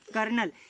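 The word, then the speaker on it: colonel: तो CO के द्वारा ये संचालित किया जाता है, जिसे आप कॉलोनल या फिर कर्नल, इसका प्रोनाउंसिएशन क्या बोलते हैं आप? कर्नल, या फिर उसके इक्विवेलेंट जो कुछ ऑफिसर रहते हैं उसके द्वारा ये संचालित किए जाते हैं।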